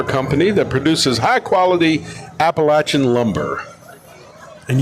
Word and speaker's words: Appalachian: that produces high quality appalachin Lumber and you pronounced Appalachian correctly bless your heart R thank you it's not Appalachia whatever and following up is